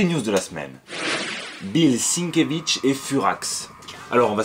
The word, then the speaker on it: Sienkiewicz: pas prononcer son nom c'est bill sinkiewicz sinkewitz voilà c'est tout simple du coup vous pourrez dire ouais j'ai adoré le taf de sinkewitz elektra quoi c'est super